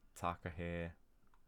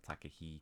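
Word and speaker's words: takahe: We've got the Taka here, or Takahi, depending on how you want to pronounce it.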